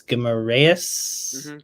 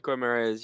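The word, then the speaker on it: Guimarães: Spurs want to have the whole salary paid by the club, and it's mainly as a replacement for I cannot pronounce his name. It's Guimaraes. Guimaraes, yeah. Guimaraes, who has gone to Newcastle.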